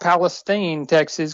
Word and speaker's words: Palestine: currently the grazing specialist it is pronounced Palestine Texas contrary to popular belief we are in the middle east of Texas but in that's